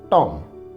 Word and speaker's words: tomb: यहाँ पर भी B साइलेंट है तो इसका उच्चारण होगा टॉम।